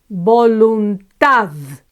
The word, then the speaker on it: voluntad: Voluntad, voluntad. This one ends with a consonant and it's the last syllable that's accentuated. So no tilde here.